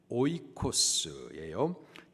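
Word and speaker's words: οἶκος: 있습니다 그래서 집에 해당되는 헬라 발음이 헬라 단어의 발음이 오이코스예요 뜻은 집 혹은 가족이라는 의미입니다 우리가 예수님을 믿습니다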